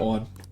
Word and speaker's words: Ann: walk right into that one well i mean okay her name is anne but they pronounce it on and so i just have been pronouncing it on as well but like i